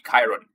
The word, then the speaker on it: Chiron: So it starts with the letter oh sorry about that. It starts with a it's you pronounce it with the letter K and then the long I right so that's how so this is how this is supposed to be pronounced but because but because